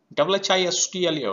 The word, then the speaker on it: whistle: W-H-I-S-T-L-E, whistle, we are not pronouncing T.